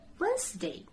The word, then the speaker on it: Wednesday: day there'll be silent this sound once day Wednesday can you pronounce this word flower nubi sound don't say